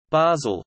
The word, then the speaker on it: Basel: Basel, also Bâle, German pronunciation, Ba-Z-L, French, Bâle, B-L, Italian, Basilea, Basilea, is a city in northwestern Switzerland on the River Rhine.